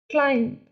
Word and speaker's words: climb: Climb, here B is silent.